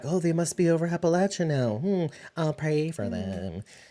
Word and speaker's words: Appalachia: I'm guessing they're in Appalachia. Am I saying it right? Carrier pigeons or something. I don't know. Bridget judgment. Bridget. Appalachia. Yeah. Appalachia. Okay. Not Appalachia. Yeah. Correct. Latch. Not le.